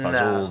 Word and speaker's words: fagioli: If you look at the word itself, it looks like it said basta fagioli, Fagioli. But you say basta fazool, Fazool.